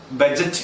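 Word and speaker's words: budget: കൃത്യമായ ഉച്ചാരണം പെലീസ്. എന്താണ് പെലീസ്? അടുത്ത വാക്ക് ബഡ്ജറ്റ്. ബഡ്ജറ്റ് എന്ന് ഉപയോഗിക്കരുത്. അത് കറക്റ്റ് വാക്ക് ബജറ്റ് എന്നാണ്.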